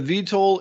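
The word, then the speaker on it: eVTOL: and it's an all-electric how do you say that e-v-t-o-l aircraft or is it the the vitol is a vertical takeoff and landing yeah oh is that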